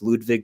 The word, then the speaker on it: Ludwig: I pronounced it wrong. Someone corrected me. I was saying Ludwig. Apparently, it's Ludwig because he's Swedish.